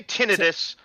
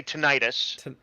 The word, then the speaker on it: tinnitus: You say tinnitus, but I think the instinct is to say tinnitus.